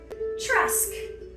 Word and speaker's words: Trusk: Trusk. Like a rustic trunk.